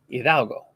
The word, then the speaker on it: Hidalgo: Hidalgo. Okay. The D makes a TH sound. Hidalgo.